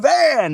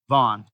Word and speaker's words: Van: All of a sudden the champ, we got all these fight-ending calls, Joshua Van, and it's Vaughn.